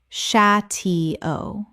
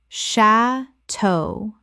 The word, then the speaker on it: chateau: bal-a ballet Word 208 chateau common mispronunciation sha-tee-o correct pronunciation sha-toe Two syllables with the stress on the second from French.